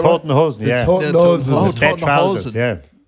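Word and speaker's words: Toten Hosen: Die Tutenhusen? Was that right? Tottenhosen, yeah.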